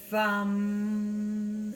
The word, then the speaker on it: Vam: And you pronounce this almost by placing your tongue behind your teeth, almost like an FV. Vam is how you pronounce it.